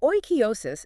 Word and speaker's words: oikeiosis: Oikeiosis. Pronounced roughly oikeiosis.